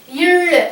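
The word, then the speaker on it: ழ்: Now, ill, how do we pronounce that? Ill. There is no corresponding letter for ill, so we are writing ZH because ill is the special la in Tamil.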